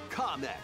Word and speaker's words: Kamek: And from Mario Kart Tour, Kamek.